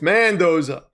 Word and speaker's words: Mendoza: You say it wrong. It's Mendoza.